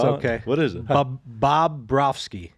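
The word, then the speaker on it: Bobrovsky: Bob Brofsky. Bob Brofsky.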